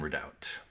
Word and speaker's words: redoubt: What syllable do you put the accent on? Let's look that up. It should be Redoubt, right? Yes, that is what the dictionary says, Redoubt. Day 14, restroom Redoubt.